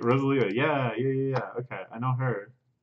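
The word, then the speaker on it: Rosalía: That's how you pronounce that, right? Rosalia.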